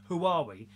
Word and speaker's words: Huawei: That's how you say it, Huawei, which has donated new devices to the rehoming